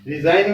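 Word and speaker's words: resign: तो रिजाइन, रिजाइन में देखिए एन से पहले जी आया तो साइलेंट है।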